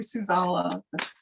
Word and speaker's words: Suzala: Ukulele and Souza together. And you can always find me on Facebook under Suzala.